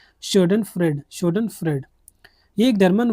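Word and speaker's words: Schadenfreude: Stand fraud करके इसका कुछ इसे बोलते हैं शोडन फ्रेड।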